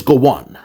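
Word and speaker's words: Gowon: acronym of his name go one is spelled as g w n oh my God his name is Goan and during the time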